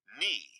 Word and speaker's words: knee: Not, knife, knee. These are all Viking words. But somehow we have lost the first sounds, and now they are silent.